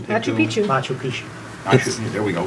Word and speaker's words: Machu Picchu: Farber's class, if I'm pronouncing it correctly. Machu Picchu. Machu Picchu.